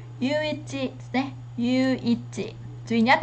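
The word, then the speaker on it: 唯一: Đầu tiên từ này đọc là gì ạ? Yuichi nhé.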